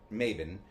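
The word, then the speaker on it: Mabon: I I I still think it should be pronounced Maybon. But, Maven.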